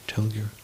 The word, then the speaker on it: telgyur: Tengyur, or telgyur, if you pronounce it slowly. You can see, at the break, you can see how it's spelled on that page here, telgyur.